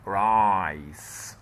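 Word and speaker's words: rice: وهنا بقى ايه راي علشان الايجاد في اخر الكلمه رايس رايس. ايه ده انت نطقت الاس سي هنا؟ ايوه عشان جاء بعدها ايه زي ما احنا متفقين رايس رايس يعني ارز رايس.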